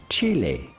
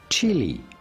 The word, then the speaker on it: Chile: In Spanish, this is pronounced Chile. Chile. Chile. Chile. But of course in English or American this is normally pronounced chili.